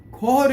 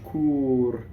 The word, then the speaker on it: cor: Cor is a word that almost often does not get pronounced correctly when Americans. It sounds too much cur, and it sounds like cool to an Italian, which means rear end, right? Cor. Make sure you open that, right?